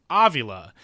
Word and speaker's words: Avila: Alex Aila, his dad, the GM of the Detroit Tigers, pronounces their last name Avila.